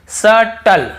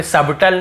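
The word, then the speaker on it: subtle: आपको पढ़ाया हूं फिर देखिए यहां पर देखिए सटल सटल यहां पे सबटल नहीं पढ़ रहे हैं तो क्लियर हो गया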